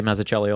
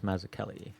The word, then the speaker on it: Mazzucchelli: I was I remember I used to say maach Chelli all the time and then somebody's like no it's maak Kelli you know and I